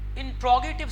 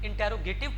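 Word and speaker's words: interrogative: second type इसकी देखें इंट्रोगेटिव sentence, normally इसको मिस प्रोनाउंस किया जाता है, इंटेरोगेटिव पढ़ा जाता है, लेकिन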